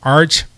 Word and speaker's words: Archelaus: I just remind people it rhymes with Amadeus. So Amadeus Archeleaus. Yeah, because I literally broke it down by syllable. Archelaus.